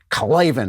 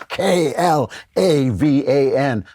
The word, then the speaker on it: Klavan: Put in Klavan, and you got to say it like that. Klavan is Klavan.